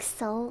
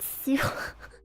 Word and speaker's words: sew: Well, that's when I was in kindergarten, I didn't know how to pronounce like sew like sewing, like sewing kit. So, I pronounced it sue.